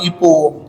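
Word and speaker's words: epoch: तो मैंने initial phase या इपो करके, इपोच नहीं बोलना, CH साइलेंट है आखिरी का, इपो बोलना, ठीक है।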